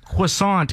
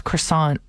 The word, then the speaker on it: croissant: Because I realized croissant is how I say it every time while we were brainstorming our carb competition. That's wrong. It's croissant. Does anybody actually call it a croissant?